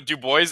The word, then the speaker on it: Dubois: Yeah, so Dubois it's a joke, referencing to like when I started using the name online of Dubois. People like my friends would mispronounce it purposely to joke, mispronouncing it as Dooboys.